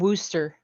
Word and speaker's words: Worcester: up Spokane in Yakima Scarborough Scarborough yeah and Wooster Lista Wooster Worcester Mass yeah we say Worcester exactly Worcester Mass